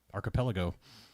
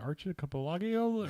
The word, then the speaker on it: archipelago: yeah because I was I was trying to put way more syllables in it because it's how it looks yeah I was like it was like Hey Archer a couple Lagos or something like yeah